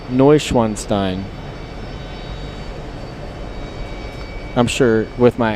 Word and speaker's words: Neuschwanstein: Neuschwanstein? Did I say it right, Les Paddocks? It's pronounced Neuschwanstein.